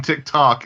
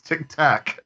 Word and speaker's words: Tic Tac: to you keep saying you keep saying Tick Tock and it's Tic Tac Tic Tac yeah I